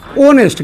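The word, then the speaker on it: honest: ओनेस्ट। क्या पढ़ते हैं? ओनेस्ट। क्या पढ़ते हैं? ओनेस्ट। यानी कि इसका उच्चारण क्या है?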